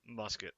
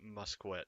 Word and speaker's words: musket: extras hunting must quit its musket but i'm going to pronounce it must quit just to bug the few of you that are OCD about that sort of thing and a better coat